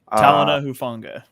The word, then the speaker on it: Talanoa Hufanga: I don't even know how to pronounce his first name, but he plays for the San Francisco 49ers. Talanoa Hufanga. Talanoa Hufanga.